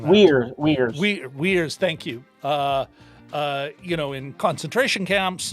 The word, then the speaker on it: Uyghurs: government at a time they've got all those, Uyghurs. Oh, I'm mispronouncing that. Uyghurs.